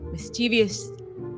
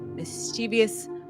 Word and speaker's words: mischievous: you contended with these kind of like mischiev mischievous mischievous.